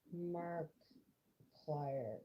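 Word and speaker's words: Markiplier: Mark plier is how it's pronounced.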